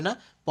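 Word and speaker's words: nip: অর্থাৎ পি এর উচ্চারণ ফ এর মত হবে না। প এর মতো হবে। কি বলেছি বিষয়টা একটু লক্ষ্য রাখবেন। এখানে যেমন এন আই পি নিপ।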